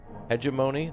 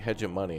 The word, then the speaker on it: hegemony: has got a grudge hegemony that's how you say it okay someone was saying like hedge of money and i'm like i